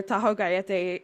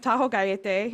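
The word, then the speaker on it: Tajogaite: just popped up uh it was given the name Taho gay which I believe is the correct pronunciation um almost none of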